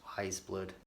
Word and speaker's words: Weyes Blood: did, but at least I now know it's Weyes Blood.